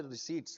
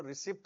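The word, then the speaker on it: receipts: फिर सारे के सारे रिसीट्स रिसीट्स का मतलब जो आया कुछ बच्चे इसको रिसीप्ट बोलते हैं पी क्या होता है साइलेंट ठीक है इसको क्या बोलेंगे रिसीट्स रेवेन्यू रिसीट्स मतलब सब्सक्रिप्शन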